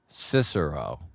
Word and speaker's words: Cicero: Cisero with an with the accent on the first syllable, not the second. What do I say? Cero. Sorry, bud. Cicero.